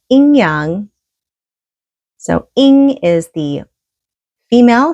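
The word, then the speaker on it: yin-yang: the inyang which is the ying-yang in um English but in Chinese you pronounce it inyang so in is the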